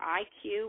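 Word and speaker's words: EyeQ: You see Viacom, CBS, just announced its new IQ, which is spelled E-Y-E-Q, all one word, which is going to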